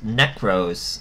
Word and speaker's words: Nekroz: This one is called NEKROZ, but it's spelled a K and a Z.